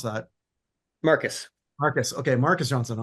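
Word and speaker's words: Marques: Well, the second Johnson is Marquez or Mark. I never know how to pronounce that. Marcus.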